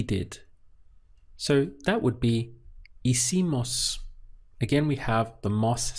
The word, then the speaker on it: hicimos: So that would be hicimos. Again, we have the mos sound for we, and you're starting the pronunciation from here. Hicimos.